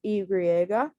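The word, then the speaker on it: i griega: so there's that um the y is known as igriega and it makes a yu sound and the z uh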